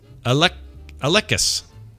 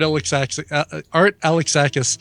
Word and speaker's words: Alexakis: The word art, and then the word Alexakis. I'm going to say that's Art Alekis. It is not. Damn it! What? Oh, sorry. Art Alexakis, who's the lead singer of the band Everclear.